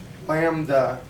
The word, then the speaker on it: lambda: lambda this brief letter we pronounce that lamb like little cute little baby lamb lambda and that is the